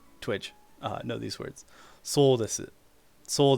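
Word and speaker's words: です: So when you first learn the language, right, you'll literally pronounce this so desu, so desu, and then you realize that this desu becomes des in real life.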